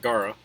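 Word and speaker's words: Gaara: So I pronounce it Gara because that's how the Japanese pronounce it.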